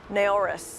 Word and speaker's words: Naoris: with me today David Carvalho the see of a horas am I saying it right first you are